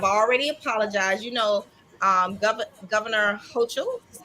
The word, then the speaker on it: Hochul: You know, Governor Hochul, is how you say her name? Hokel.